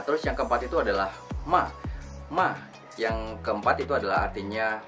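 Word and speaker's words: 骂: Nah, terus yang keempat itu adalah ma.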